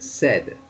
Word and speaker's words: said: written but it's pronounced said so it's pronounced as though it was written s-e-d instead of s-a-i-d said that's right this